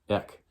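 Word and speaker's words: ἐκ: for this one because there's nothing that I know of that sounds like ek, except the first syllable of several words that you know. Words like eczema and echo and ecumenical and Ecuador. If you just say that first syllable, and you can say it with me, just say ek.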